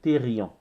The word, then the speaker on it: thérion: Je dirais éthérion, c'est thérion. T-H-E-R-I-O-N.